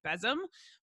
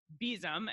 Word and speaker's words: besom: to say that because for me it looks like it ought to be Besim but apparently it's pronounced besom and you can download